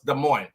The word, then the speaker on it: Des Moines: So one person says, damn, that's not how you pronounce it. You're butchering the word. After that, it's like every comment after that was, why is he saying the word like that? Some areas, all of them there. I'm sure it still has some more over there. So we know it now. It's Des Moines.